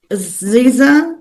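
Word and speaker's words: SZA: Um, Ziza or what? How do you say it? Scissor scissor.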